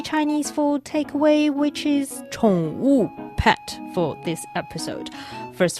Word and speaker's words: 宠物: It's 宠物. 宠物.